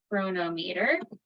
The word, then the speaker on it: Cronometer: So I am going to share my screen and bring up cronometer. So let's go here. Or cronometer. I pronounce it both ways, cronometer and cronometer, but I guess I've always called it cronometer.